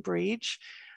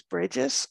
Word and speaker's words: Bríd: will often see uh that would be my most common pronunciation breach and other people definitely use bridges and we tend to